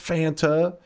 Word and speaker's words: Fanta: until chat was like, "It's was made in Germany. It's supposed to be pronounced Fanta." And I was like, "What?" And yeah, and then I looked it up. Apparently, it is supposed to be Fanta.